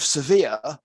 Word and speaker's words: severe: But the adjective severe is something completely different. If I pronounce sever like severe or severe like sever, my English becomes completely incomprehensible.